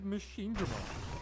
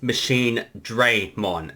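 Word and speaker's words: Machinedramon: the games was it so in Digimon World next order machine Damon's name is mispronounced as machine Dron and it always bothered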